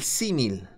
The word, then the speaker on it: símil: primero aquí es el símil s&m y el acento en la primera y símil un símil es una comparación